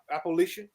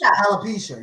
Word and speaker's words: alopecia: how you pronounce it? Appalachian? How you pronounce it? Yeah, Appalachian. I think. You know, one of the cast members. Alopecia.